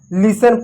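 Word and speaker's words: listen: जैसे कैसल पढ़े इसमें टी साइलेंट रहा लिसन पढ़े टी साइलेंट रहा इसमें हमने फैशन पढ़ा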